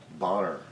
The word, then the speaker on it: Boner: names now it was it's pronounced dr bonner b-o-n-e-r look at me like